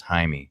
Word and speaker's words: Jaime: a lot yeah because my name is spelled you know spelled j'ai a me but it's right house Jaime alright so I've got tons of people who are always trying to call me Jamie which I'm not offended